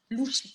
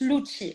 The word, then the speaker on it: Louchi: Tout le monde le prononce Lucci. Alors, bon, bien sûr, je me tue à leur dire que si c'était Lucci, ça serait 2 CC, donc c'est dit, pas CH.